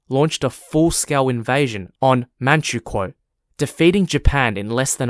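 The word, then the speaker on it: Manchukuo: a puppet state called or pronounced in English as manchukwo manchuko spelled m-a-n-c-h-u-k-u-o the Japanese roared Northeast China under man drogwar manchukwo for almost 14 years until 1945.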